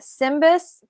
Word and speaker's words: SYMBIS: Um, Jodi and her husband Will are certified SYMBIS facilitators.